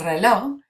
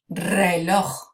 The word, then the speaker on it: reloj: Now over here, for this word, el reloj, it's a fun one because not only if you can roll your R's do you get to do that at the beginning, but you also get to clear your throat at the end.